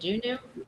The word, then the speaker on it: Juneau: Juneau.